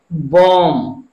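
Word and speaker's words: bomb: बी ओ एम बी, अब यहां पर भी लास्ट में क्या है? एम बी, अगर एम बी है तो यहां पर बी का साइलेंट, बी का उच्चारण हम नहीं करेंगे, हम केवल इसको क्या पढ़ेंगे?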